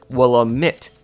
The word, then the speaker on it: Willamette: a bunch of cards played by this guy willa mitt and yes that's how his name is supposed to be pronounced he is one of the several card